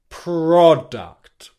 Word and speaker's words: product: And also when you release the P sound, make sure that your lips go straight into that bunched up position. Purr, purr, purr, purr, product, product, product, product, product.